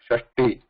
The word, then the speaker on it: षष्टिः: Remember this, there is a alpa prana t here, shashti, and whereas here it is mahaprana th.